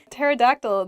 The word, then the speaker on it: pterodactyl: that on my own pterodactyl begins with a p but we don't say the ps just starts with a t sound in a sentence you